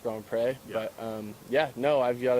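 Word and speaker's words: Grand Pré: lot of people it's easier to just say Grand Prix but it's actually pronounced go and pray yeah ya know I've got a very lucky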